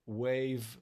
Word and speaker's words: WAV: And so we always recommend for people to download not to stream but to download high quality audio wave file. Wave is spelled wav in order to get the full vibration in order to get the full impact of the healing of music.